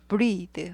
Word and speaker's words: breathe: breathe. 발음이 breath에서 breathe, 에에서 이로 바뀌고 th에서 the로 바뀌는 거예요. breath, breathe.